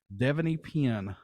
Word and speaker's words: Devanny Pinn: And I hope I say her name correctly, Devanny Pinn.